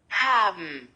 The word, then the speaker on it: haben: Haben haben Verb hilfs haben hilf haben fou bem claro né aqui a pr e o e não é pronunciado.